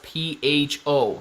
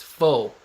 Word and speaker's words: faux: That is how you pronounce P-H-O. Think about it, guys. Not pho. It's faux.